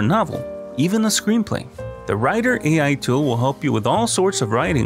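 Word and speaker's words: Rytr: inexpensive was one called a writer r-y-t-r that's how it's spelled and I left a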